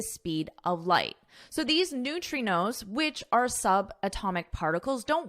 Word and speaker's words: neutrinos: And towards science recently, when physicists discovered that subatomic particles known as neutrinos, just listen to my pronunciation, neutrinos, can exceed the speed of light.